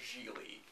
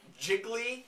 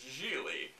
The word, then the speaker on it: Gigli: it's not only incomprehensible, it's unpronounceable the first time you see it, is the Ben Affleck vehicle, Geely. Yeah. Gigli, which 2 minutes into the film, a character says, "What's your name? Jiggly?" And he says, "No, it's pronounced Geely."